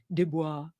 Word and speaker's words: Du Bois: Sorry, I say Du Bois because I think that's how they pronounced it when he was alive, but it's Du Bois.